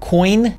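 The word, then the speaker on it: Quoine: and crypto exchange operator coin I believe is how it's pronounced even though it's qu o ine has said he believes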